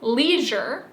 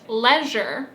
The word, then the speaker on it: leisure: In my accent, I pronounce the word leisure and Nathan pronounced it leisure.